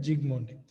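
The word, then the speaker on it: Zsigmondy: Gold number is actually proposed by Zygmundi. S is silent. S is silent. Zygmundi.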